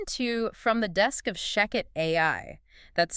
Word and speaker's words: Shechet: And uh just to be absolutely clear right off the bat, that is pronounced Sheket. Yes, exactly. Sheket.